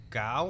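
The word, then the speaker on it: Gough: And you had, I don't know exactly how to pronounce his name, but Michael Gow or Go? Oh, yeah. As Goff.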